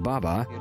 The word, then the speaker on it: Baba: fact the concept of Baba Yaga and her first word Baba in fact it is necessary to pronounce it with shifted emphasis baba baba here in